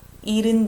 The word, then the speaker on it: 잃은: Even here, I didn't say 싫어서. We just almost make a silent H. 싫어서. 잃은 듯이.